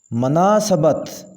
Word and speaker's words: مناسبت: پڑھیں گے منعن، منعن۔ مناسبت مناسبت میم کے اوپر زبر آئے گی، مناسبت۔ مضافات صحیح ہوگا